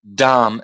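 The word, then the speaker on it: dhāma: you don't pronounce it you don't pronounce the last eye so you've got damn that is a dumb okay yep and then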